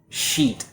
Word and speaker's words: sheet: Sheet. A lot of students mispronounce this word because of the vowel sound. So instead of using the E like she, a lot of students will use I like sit.